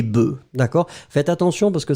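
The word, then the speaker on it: bœufs: final œuf un œuf quand vous mettez au pluriel le F disparaît totalement et vous allez obtenir un son e des œufs un œuf des œufs c'est la même chose avec bœuf un bœuf des bœfs d'accord faites attention parce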